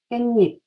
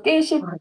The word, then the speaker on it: 깻잎: 그런데 이것을 발음할 때 깻잎이라고 발음하죠. 깻잎. 그래서 깨십 아니고 깻잎 이런 거 많아요.